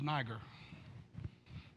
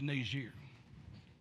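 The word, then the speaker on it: Niger: years pronounced it as niagara it's not pronounced properly it's actually a french pronunciation it's nazir the nation still exists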